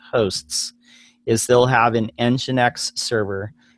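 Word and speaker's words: nginx: it correctly John is is it NE n Jinx the alternative okay yeah so that one it's engine X engine oh sorry engine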